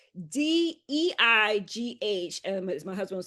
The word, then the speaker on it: Deigh: Yes, so the last name is spelled D E I G H. Um, as my husband would say like sleigh but with a D.